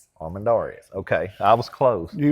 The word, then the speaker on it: Armendariz: She was unable to join us last week, but, and I'll get you to pronounce the last name for us. Armen Darees. Armandares.